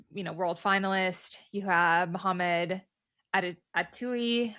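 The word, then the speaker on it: Attaoui: You have Mohamed Atui. I always want to say it rhymes with Ratatouille.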